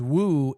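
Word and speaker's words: 五: fourth prince four five because Woo is how you say five in uh Chinese in uh Leai is the fourth prince.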